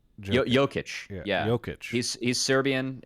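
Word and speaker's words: Jokić: I guess it's pronounced Jokic, not Jokic.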